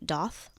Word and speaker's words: daith: Granted, my only 2 that I had with needles were my tragus and the daith. Okay. Some people pronounce those tragus and doth. Oh, interesting. Okay. I don't. Potato. I guess so.